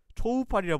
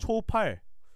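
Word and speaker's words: Coufal: 초팔. 그냥 전 쿠팔이라 합니다. 근데 그 그냥 초팔이 원래 표기법이 맞아요? 정확히는 제가 발음을 열심히 들어봤거든요. 네. 현지 발음을 초우팔과 소우팔이 사이에 있어요. 쇼팔 뭐 이렇게.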